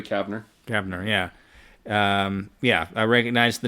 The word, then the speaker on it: Kavner: Well, Julie Kevner? Yeah. I'm getting the name wrong. Julie Kavner.